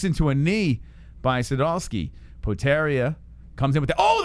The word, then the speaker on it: Potieria: oh a nice leg kick by Podi area potaria oh they're called potaria all right poteria let's go that's easy enough potarius creeping in oh walks into a knee by Sadowski potaria comes in with the oh the right hand